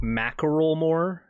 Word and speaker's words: Macklemore: It's pronounced Macklemore.